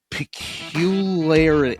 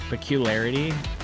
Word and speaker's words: peculiarity: Pecularity. I see. I can't. I can't. My brain won't do it. So Oh, peculiarity.